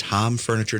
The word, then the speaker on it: Hom Furniture: off because Hom Furniture, and it is Hom Furniture, damn it, there is no E, no amount of marketing will make me mispronounce it.